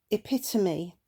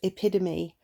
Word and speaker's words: epitome: Epitome. Again, I would say the T in that quite distinctly, epitome, not epidemy, which is an American language characteristic known as flapping, apparently.